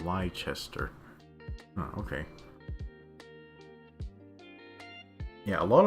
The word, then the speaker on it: Leicester: Apollo says, so for Leicester, the name is from one of the very original kingdoms of England, pronounced Leicester.